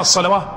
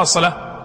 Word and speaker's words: الصلاة: الصلواه، هل سمعت واحد منا يقرأ الصلواه ولا يقرأ الصلاة ويعرف أن هذه الواو إيش؟ زائدة ولا لا؟ يعني ليست من أصل يعني ليس إنما هي إشارة إلى أصل الكلمة، أصل الألف، وليست ولا تنطق، يعني تكتب ولا تنطق، وينطق المحذوف بدلا منها اللي هو الألف.